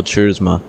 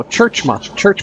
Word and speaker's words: Churchman: Our top 5, Connor Anton, James Brown, Don Stevenson, George Burke, and Michael Churzma. How do you pronounce his last name? Churzma? Churzma? No, Churchma. You know, like you go to church?